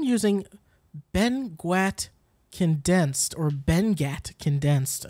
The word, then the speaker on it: Benguiat: similar but I'm using Ben guat condensed or Ben Ghat condensed it's actually pronounced Ben yet it looks like Ben gwit but let me spell it for you be